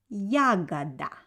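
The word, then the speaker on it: ягода: let's get started and berries in russian will be yagada yaga pay attention on the pronunciation of the second or so we write o but pronounce it like ah because letter o doesn't have an accent the next false on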